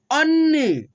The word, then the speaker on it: अन्न: लोग फास्टली पढ़ेंगे, अल्प, अन्न, ठीक है, अ न न अन नहीं पढ़ेंगे, अन्न, न में न जुटा हुआ है तो न के साथ न का उच्चारण करेंगे, अन्न।